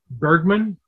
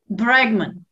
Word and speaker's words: Bregman: would pronounce his name i think his name is rutger bergman bregman okay but i know